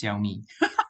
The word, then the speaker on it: Xiaomi: got to say uh the siomi is actually pronounce as xiaomi xiaomi okay xiaomi okay okay